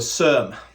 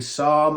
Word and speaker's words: SERM: Tongkat Ali has been found to be what they call a SERM. Yes, you're all thinking SARM and I've said it wrong. Nope, SERM. So a SARM is a selective androgen receptor modulator.